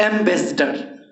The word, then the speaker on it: ambassador: एक है एम्बेसडर, एम्बेसडर, एम्बेसडर, यहाँ पर दे दिए एम्बेसडर। आर जो है ना, आर का उच्चारण नहीं के बराबर होता है, एम्बेसडर, एम्बेसडर।